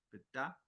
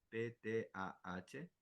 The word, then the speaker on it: Ptah: La frecuencia del hombre, que se llama Ptah, P-T-A-H, creo que la pronunciación es Ptah.